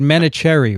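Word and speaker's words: Vineet Menachery: pronounce it terribly you i've heard much worse menachem or menachem is it is it manicherry right manatee thank you i completely understand mispronounced names as you might imagine this episode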